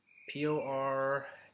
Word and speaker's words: Pordenone: I don't want the fans of that team to see them trying to pronounce their P-O-R-D-E-N-O-N-E.